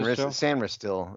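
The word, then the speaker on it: Sainristil: you pronounce his name I think it's San sanr is what San all right so Mike sanr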